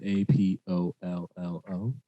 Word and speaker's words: Apollo: first let's get into introductions my name is a-p-o-l-l-o if you can't read or spell it's apollo primo king dudes i'll let y'all